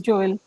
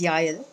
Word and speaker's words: Jael: People would want to know who's Joel. And I think I'm getting it wrong. The J is silent. It's a Hebrew No, name. it's a Hebrew name. The right pronunciation is Yael.